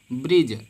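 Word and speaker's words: bridge: कोई भी शब्द देखो अगर उसके लास्ट में साइलेंट हो जाएगा ब्रिज ब्रिज तो सभी जानते होंगे ब्रिज पुल होता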